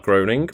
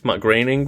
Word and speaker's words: Groening: series created by Matt Groening mcgreening Matt Groening it's my great he always says say it's a rhyme with complaining okay migraining then uh